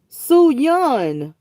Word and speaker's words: Suyan: Suyan. That's how you pronounce it, Suyan.